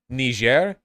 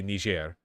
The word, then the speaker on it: Niger: the okay pronouncing it as Niger is the obvious correct choice for so many reasons it's way less awkward and also you're way farther away from accidentally dropping one you're not like a light mispronunciation away from ending your YouTube career if you just say Niger that's so much easier and it's respectful to the way they actually pronounce it you know they Nigerians